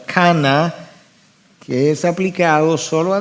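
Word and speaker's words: קנא: En el hebreo la palabra para celo, la transliteración se pronunciaría algo así como cana, que es aplicado solo a Dios y que implica fervor.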